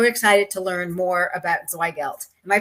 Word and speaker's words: Zweigelt: We are so excited to have you on the show, and I'm so excited to learn more about Zweigelt. Am I pronouncing that right?